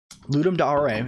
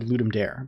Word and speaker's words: Ludum Dare: When I was young, I said Ludum Dare, but someone who is like Latin affiliated was like, oh, it's Ludum Dare. It's pronounced Ludum Dare.